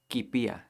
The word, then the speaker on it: kipiya: And now it's not nikpiya or tikpiya, now it's kipiya. You can't really pronounce kpiya by itself, so it sounds like ki instead of k.